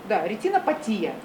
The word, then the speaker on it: ретинопатия: Патии обычно, ретинопатия, на «и» ударение, нефропатия.